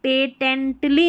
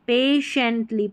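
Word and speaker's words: patiently: याद रख लें तो ये हो गया पेटेंटली नहीं पढ़ेंगे। पेटेंटली नहीं पेशेंटली पेशेंटली टी आई को श पढ़ेंगे। पेशेंटली एल वाई को ली पढ़ते हैं।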